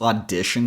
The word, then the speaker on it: audition: For you to pronounce audition correctly, you have to eliminate the u sound. So it's a as in call, then d as in sit. T here becomes an h sound. Usually words that end in t i, o, n sound like shun. I and o turn into a schwa sound.